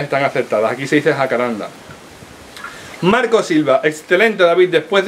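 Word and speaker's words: jacarandá: Acá en Argentina lo conocemos así, pero con acento en la última A, jacaranda. Yo una vez lo busqué porque es algo que me corregían mucho desde Latinoamérica, desde otros muchos países. Nada, y es jacaranda, no jacaranda.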